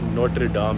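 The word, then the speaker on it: Notre-Dame: और फ्रांस का मशहूर नोट्रे डाम है। इसको अगर फ्रेंच में या जर्मन में की प्रोनाउंसिएशन में कहते हैं, इसको नोट्रे डामे कहते हैं, इंग्लिश में ये सिंपल नोट्रे डाम है।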